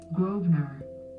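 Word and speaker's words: Grosvenor: not a definition but I do have a pronunciation groer groer otherwise it just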